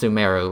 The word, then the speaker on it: Sumeru: Sumeru, but, you know, it's pronounced Sumeru, or at least in English.